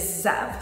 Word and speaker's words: Zev: in a second, is Zev. So Zev is very similar to Lev. It's spelled Z-E-V.